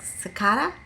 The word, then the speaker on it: cicada: i don't know because the pronunciation in british and american english is different american says psychot seikara and in british was like sakada is c i c